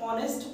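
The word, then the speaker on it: honest: अब एच ओ एन ई एस टी, इसको word को हम उच्चारण अगर इसका जानते तो इसे ऑनेस्ट पढ़ा जाता है, इस वर्ड को हम ऑनेस्ट पढ़ते हैं, और जब ओ आ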